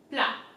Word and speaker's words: plat: Petit sac, plat. Plat in French is flat, right? So here the T at the end is silent.